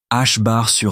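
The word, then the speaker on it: ħ: Prononciation H bar 2.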